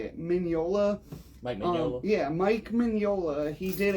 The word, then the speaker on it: Mike Mignola: Mike Mignola.